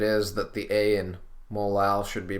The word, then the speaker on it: molal: I emphasize the A and just pronounce it molal so that people know exactly what the word is, because if you pronounce